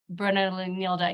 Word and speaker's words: Nilda: it correctly for me Nilda you know I have always struggled to roll my R's in Spanish so you say your name much more beautifully than I do thanks to your patience